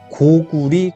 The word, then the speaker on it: 고구려: 고조선이라고 하는 조선의 역사, 부여, 고구려라고 하는 고려, 원래는 고구려, 고려는 려자가 나라 이름을 지칭할 땐 리라고 발음해야 된다라고 되어 있기 때문에 고구리, 고리라고 읽어야 됩니다. 백제, 신라, 가야, 그리고 통일신라,